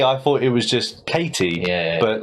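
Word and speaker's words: Cady: thought Katie turns out no her name is Katie oh it is Katie c a d y that's actually her name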